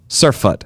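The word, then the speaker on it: surfeit: more than you need Surat how do you spell it uh s Ur r f e i t Sur surf surf surut that's how you pronoun okay I think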